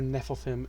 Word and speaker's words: Nephilim: the Giants and Nephilim which I'm pretty sure Nephilim is the right pronunciation and it's just the yeah it's the